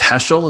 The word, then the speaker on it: Heschel: a couple of stories of i think it's heschel is the mind pronouncing that correctly abraham joshua heschel correct yes and uh i know that you're